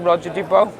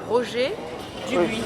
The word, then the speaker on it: Roger Dubuis: And how would you pronounce it, Roger Dubois? Roger Dubuis. So I've just butchered it then.